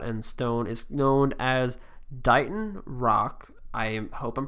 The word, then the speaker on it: Dighton: think I pronounced it Dayton last time so it's Dighton like D I gh en but it's spelled like bright with a D and then on so